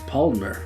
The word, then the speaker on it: Paulaner: I might pronounce it wrong. Paulaner München? München. It's Paulaner.